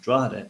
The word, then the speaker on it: Drogheda: to actually be reincarnated, Drogheda, which is how you pronounce it, Drogheda.